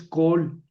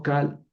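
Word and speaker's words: כָּל: hadbarim todas las palabras por qué aquí lees col y no cal porque es una sílaba cerrada no acentuada aquí está acentuada por eso pongo col ¿Verdad?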